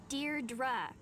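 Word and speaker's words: Deirdre: Dear Dra, I know it's got that tricky second syllable.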